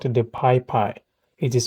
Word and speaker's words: PyPI: It installs libraries and tools from Python package index called the PyPy. It is spelled PYPI.